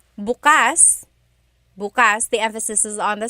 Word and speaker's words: bukas: If you say bukas buas the emphasis is on the second syllable that means open. If you say buas emphasis is on the first syllable that means tomorrow.